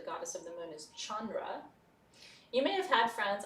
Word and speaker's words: Chandra: the english spelling are actually phonetic where they're spelled like they sound chandra for example which is the pearl the moon